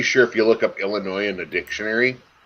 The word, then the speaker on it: Illinois: I'm pretty sure if you look up Illinois in the dictionary, I'm pretty sure it phonetically drops the S.